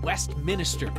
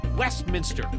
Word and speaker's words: Westminster: are serious safety concerns why do people say Westminister seriously Westminster anyone with two eyes can tell you there's only one in Westminster the most Colorado thing